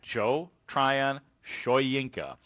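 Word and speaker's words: Joe Tryon-Shoyinka: and he said that Joe Tryion Showinka. Uh that is the way you say his name and here is what he sounds like as a Chicago Bear.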